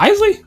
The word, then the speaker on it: Isley: Was it Igley Bros did it for a little bit? Is it Igley? Is that pronounced right? Are you talking about Isley? Isley. I said Igley.